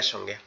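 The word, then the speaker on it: ث: নোক্তাওয়ালা যে অক্ষরটা আছে এটার নাম হচ্ছে সা। সা। এটা কোথা থেকে উচ্চারণ হবে? আমাদের এই জিহ্বার আগা, এই জায়গাটা আমাদের এই সামনের এই দুই দাঁত, এটার আগার সঙ্গে লাগবে, তা হচ্ছে গোড়ার সঙ্গে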